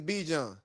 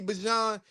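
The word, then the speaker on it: Bijan: is Be John is if your name is spelled B I J A N, your name is Be John. Even if your mama wanted you to be Bon, everybody calls you B.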